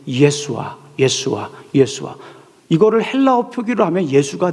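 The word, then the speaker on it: ישוע: 근데 이거를 히브리어로 발음하면 예수아.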